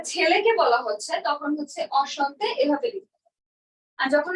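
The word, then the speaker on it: enchanté: আচ্ছা, তাহলে এখানে দেখেন অসন্তে, উচ্চারণটা কি? অসন্তে, অসন্তে, এইটুকের উচ্চারণ অ সন্তে, অসন্তে।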